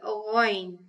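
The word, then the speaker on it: غين: This letter is called ghayn. Now the sound of ghayn is gha, which is a heavy sound, so it is pronounced with a fuller mouth.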